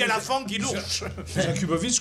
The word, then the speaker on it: Jakubowicz: Jakubovic, comme ça se prononce. Comme ça s'éternue aussi.